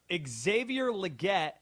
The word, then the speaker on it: Xavier Legette: You pronounced Xavier Legette and Teteroa McMillan's names correctly.